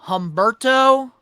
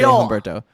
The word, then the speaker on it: Humberto: Name one more time so I could try to pronounce it right. Humberto Carrillo. So Humberto.